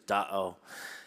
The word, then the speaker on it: Da'o: That's because Tahoe the name actually came from the mispronounced word, the Washoe word for lake, which is Da'o.